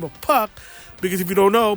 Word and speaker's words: Puck: by the name of Puck. Because if you don't know, before he was Pac-Man, it was Puck-Man. Puck, because it rhymes with another word.